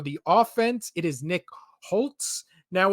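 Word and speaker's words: Holz: offense it is Nick Holtz now it's spelled HZ no T in there but it's pronounced Holtz so why wouldn't you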